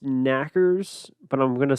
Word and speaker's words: knockers: The Tommyknockers, which is pronounced knackers, but I'm going to say knockers because I'm not going to pronounce them knackers throughout.